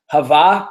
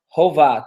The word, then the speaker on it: Hovah: can we translate destruction it can be pronounced hava to meet destruction or Hova to be destruction and then it's also